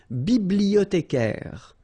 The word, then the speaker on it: bibliothécaire: Then un bibliothécaire, bibliothé, remember in French the H doesn't exist, so you don't pronounce it.